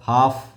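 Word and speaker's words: half: बहुत सारे शब्द मिलेंगे हा एफ हाफ यहां एल साइलेंट हो गया उच्चरित होता है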